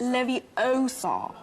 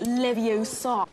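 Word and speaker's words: Leviosa: someone's eye out besides you're saying it wrong it's Levi Oar not Lev Oar how could I be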